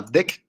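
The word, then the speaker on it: deque: Y aquí viene que es pronunciado como DEC, ¿no?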